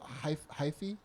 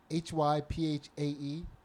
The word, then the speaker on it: hyphae: So sometimes there's also something called hyphae, HYPHAE, hyphae, because that's how they were pronouncing it.